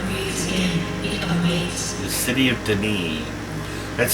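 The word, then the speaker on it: D'ni: again the city of den that's spell the apostrophe n i and that's how it's pronounced Den it's not pronounced it's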